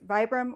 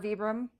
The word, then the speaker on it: Vibram: So, you want to make sure you get I've heard it pronounced several different ways, vibram or vibbram um bottoms to your shoes.